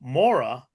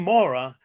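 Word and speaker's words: morra: called MOA and for those of you interested it's spelled m o r r a so Mora dates back thousands of years to ancient Roman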